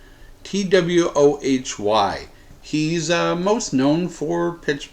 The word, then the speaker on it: Twohy: Twohy.